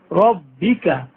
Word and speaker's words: رَبِّكَ: বিহামদি বিহামদি ফাসাব্বিহ বিহামদি রাব্বিকা, রাব্বিকা বলা যাবে না, কেন বলা যাবে না, রর উপর জবর হলে র হবে মোটা, রাব্বিকা রাব্বিকা না বলে